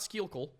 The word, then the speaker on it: Schuylkill: It is pronounced Schuylkill. Not Schuylkill, Schuylkill.